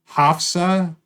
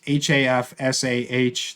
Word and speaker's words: Hafsah: and Tea series by Hafsa Fazl. I'm sure I'm pronouncing that wrong. It's Hafsah, the first name, and then Faizal for the second name.